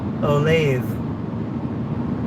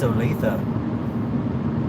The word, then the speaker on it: Olathe: the road to olathe whereas probably the rest of the country pronounces it olathe but trust me as an insider it's olathe it's olathe franklin late september to